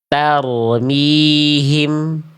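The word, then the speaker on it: ترميهم: Sekali lagi perhatikan t-nya. Dza dza lahabin. Dzata lahabin tarmihim. tarmihim. Paham ya? Jadi itu kesalahan kedua dari huruf ta ya. Jangan sampai menjulurkan ujung lidah keluar mulut karena itu tidak sesuai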